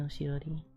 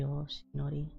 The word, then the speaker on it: Yoshinori: Hi Sunny Yoshirori. Sunny Yoshinori. Okay, I said it right the second time.